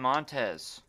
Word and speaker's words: Montes: All right, Crossroads podcast number 12 with the homie Montes. What's up, man? Thank you for having me. Yeah, man. Did I pronounce it right? Yeah, you got it Montes? right. Nice. Montez, yep.